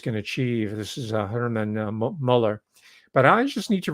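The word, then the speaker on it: Muller: Now, in supporting Diamond Dave's argument, because he keeps mentioning Hermann Josef Müller, or he was actually American, so I shouldn't give him the Germanic pronunciation. Hermann Joseph Müller, right?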